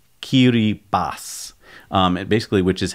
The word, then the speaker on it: Kiribati: set of islands the Gilbert Islands and it's pronounced I thought it was Kiribati but it's qt bas basically which is how you translate Gilbert into